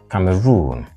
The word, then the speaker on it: Cameroon: Camaroon C run so where's the stress on the third syllable Cameroon not Cameroon and here